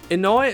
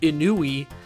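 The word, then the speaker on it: Inoue: worse than arino's name inouye is pronounced inui and urakawa is yurakawa that reminds me of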